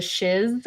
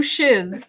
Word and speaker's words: Shiz: still didn't have any of the um the shiz I I always have to like really pronounce that word the shiz h s h